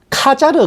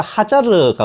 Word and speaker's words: 하자르: 아슈케나지 유대인들이 투르크 계열 카자르 칸국이라고도 하는데, 원래 발음이 좀 더 하자르가 원래 발음에 가까워요.